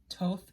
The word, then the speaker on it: Thoth: another name for both sometimes called toth but uh i say soth because it's t-h-o-t-h so i say who